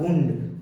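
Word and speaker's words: wound: और जनरली इसके जो प्रोनाउंसिएशन है वो बाउंड नहीं होता है, इसके जो प्रोनाउंसिएशन वो बाउंड होता है बुंड। क्या पढ़ते हैं हम लोग? बुंड। बुंड एंड बुंडेड एंड थर्ड फॉर्म हो जाएगा बुंडेड।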